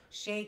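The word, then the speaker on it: Hxey: Shay, que se escribe, por cierto, cuando vayan a YouTube o a hacer una búsqueda, se escribe H-X-E-Y.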